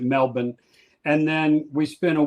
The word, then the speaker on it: Melbourne: They pronounce it Melbourne.